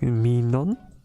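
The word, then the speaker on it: Mignon: tummy art book um the artist is like meon I think that's how you pronounce it but let me like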